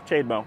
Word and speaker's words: CHAdeMO: No, CHAdeMO.